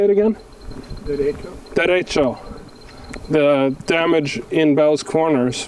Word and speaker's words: Derecho: Derecho.